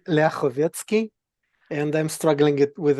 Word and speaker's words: Lyakhovetsky: It's actually Leovetski and I'm struggling it with it myself, so completely understandable.